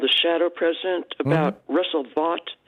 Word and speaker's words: Vought: He had a piece called "The Shadow President" about Russell Vought. I think I'm pronouncing it right. Yeah, Vote actually is how he pronounces it.